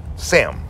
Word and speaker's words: Samhain: Sam, right? But they're pronouncing it as Sam.